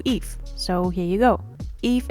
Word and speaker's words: Yves: Eve is pronounced and called in Hungle as Eve, just like the biblical Eve.